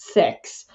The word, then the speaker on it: CEHX: to CeX which uh sounds controversial but it's pronounced sex and it was excellent because it was something